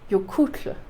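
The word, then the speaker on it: Jökull: Jokul. Jokul. Over there, kind of on the side of your teeth. Jokul. Anyway, that's your Icelandic pronunciation for the day.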